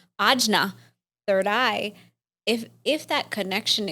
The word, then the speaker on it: ajna: Third eye in the chakra system, as we pronounce here, is ajna, third eye.